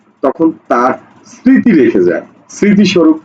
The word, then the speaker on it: স্মৃতি: তো উচ্চারণটা কি এরকম হচ্ছে এরকম হচ্ছে না স্মৃতি স্মৃতি দেখো তো ম ফলার উচ্চারণ হইছে হয়নি সুতরাং এই জায়গাতে আমরা তার